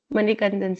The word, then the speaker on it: Manikandan: first question is for manikandan sir sir am I pronouncing your name correct yeah you're right manik yeah you're right yeah yeah hi sir so my